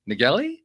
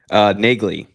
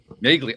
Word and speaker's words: Nagley: But we're joined today by Jamie Nagelli? Nagley. Nagley. Oh, I was so close. I was right there. Nagley. You're there. Okay. One little syllable.